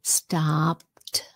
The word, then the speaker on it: stopped: Stopped. Sounds like a t.